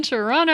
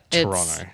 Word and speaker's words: Toronto: we mentioned something about Toronto and we pronounce the second T in Toronto and I was like not anymore it doesn't exist just like the second